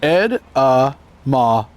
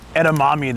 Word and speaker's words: edamame: That's pronounced edamame. They're tired of the standard edetamame that they hear from everybody.